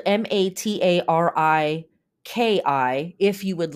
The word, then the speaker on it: Matariki: very cool um okay the way the word is spelled m a t a r i Ki if you would like to learn more about